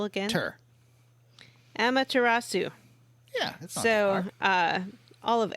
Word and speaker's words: Amaterasu: making me feel like a god all of emiratzu's powers am i saying that right you said it differently johnny amanda tarasu amateur emma tur emma say the second syllable again amaterasu yeah so uh all of amaterasu's powers are